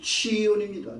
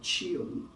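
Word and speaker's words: ציון: 소식 이런 것들이 나오죠 성경에는 시원이라고 돼 인데 치온이 아니고 이브리 바음은 치온입니다. 치연.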